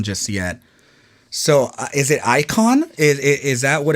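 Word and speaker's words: Icahn: yet so is it icon is is that what it's called icon like like uh icon but spelled with a CA hn filed for chapter 11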